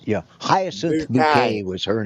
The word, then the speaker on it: Bouquet: She always said, you know, Hyas bouquet was her name. Yeah. But bucket bucket.